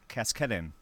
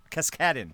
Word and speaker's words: Cascaden: No, it's Cascaden. Cascaden. That's it. Lindsay Cascaden, because the emphasis is on the second syllable.